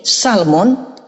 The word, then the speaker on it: salmon: Kalau ditambah mon di sini, Salmon, itu justru L-nya nggak boleh dibaca.